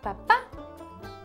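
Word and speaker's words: papá: what about a papa papa in Spanish is Papa same thing sounds similar just a little Accent on the end so it's papa papa or D and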